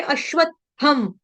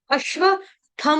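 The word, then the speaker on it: अश्वत्थम्: शाखम उसके आगे अश्वत्थम यहां पे अश्वत्थम अश्वत में आधा त फिर अधिक थ यानी पूरा थ फिर अनुस्वार का उच्चारण हलंतम यहां पे गलती से अश्वत्थम की बजाय अश्व थम हो जाता है। थम नहीं बोलेंगे।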